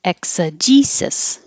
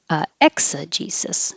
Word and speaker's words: exegesis: But in this word, Both of these S's sound like S's.